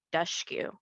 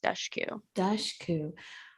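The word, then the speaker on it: Dushku: just figured out that you pronounce her name duskyu 30 years yeah so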